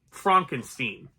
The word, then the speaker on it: Frankenstein: Frankenstein sorry sorry Frankenstein it's pronounced Frankenstein just throwing that out